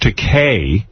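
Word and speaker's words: Takei: Well, listen, we are thrilled to have you here to have George Teay, which rhymes with Okay, joining us again.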